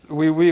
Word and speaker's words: Oui Oui: Well, in fact, we met with Wee Wee, which is spelled like yes, yes in French.